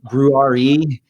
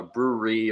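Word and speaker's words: Brewre: first and foremost uh brewery or brewery um i whenever it's a recording i always try and spell it out so people can understand it uh it's b-r-e-w-r-e so it's to play on words with a brewery where people make beer and drink beer and the last two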